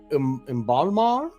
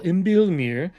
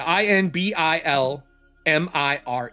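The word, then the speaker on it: Inbilmire: would like to ask our good friend uh Inbalmar? Oh, yes. Uh uh in Balmir. I N B I L. Imbilmir. And he will spell it out for you. I N B I L M I R E.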